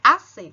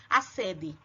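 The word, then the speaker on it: acedé: Lembre que esse D, ele é mudo. Ele é importante ser escrito, mas na hora de falar, vocês vão falar como se não tivesse o D. AC, e não acede.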